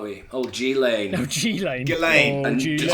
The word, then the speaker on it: Ghislaine: People are using I think we Wayfair were just getting to- onto old G-Lane, weren't we? Old G-Lane. Oh, Ghislaine. Ghislaine. Oh, And Ghislaine. just Pronounced Donald Ghislaine.